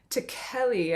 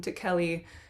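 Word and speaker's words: Ticheli: so our composer frank takelli i think from i watched an interview and they called him to kelly so i'm i think that's his pronunciation of his last name but he is an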